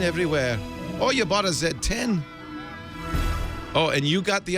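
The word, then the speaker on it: Z10: get a BlackBerry zed1 I'm told you pronounce that Zed 10 cuz they're Canadian underwhelmed not not not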